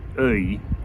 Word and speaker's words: œil: was first learning French, I was a little bit confused by the sound you've got in a word like œil or feuille, because there's quite a lot compressed into that one little sound. I guess it's a diphthong actually. It's two vowel sounds that glide into each other. It starts off being and then it goes into e, ei.